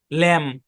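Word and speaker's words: lamb: দেখে কেউ consonant blend মনে করেন না ভাই সাইলেন্ট লেটার এটা ল্যাম ল্যাম মানে কি ল্যাম মানে হচ্ছে ভেড়ার বাচ্চা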